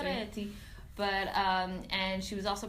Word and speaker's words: Ferretti: It's actually called Ferretti. Yeah, you have to really pronounce it. You know, Italian, guys. Italian, obviously. Ferretti.